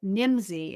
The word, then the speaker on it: Nimdzi: these listeners to is a resource called nimsy and that's spelled Nim dzii and they provide a